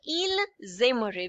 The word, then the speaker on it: il aimerait: Okay, the ending ent would be silent and ai is pronounced as a. So it would be pronounced as il aimerait because s and a together would be pronounced as z.